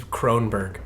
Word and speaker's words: Kronberg: And before you say it wrong one more time, my name is Croninberg.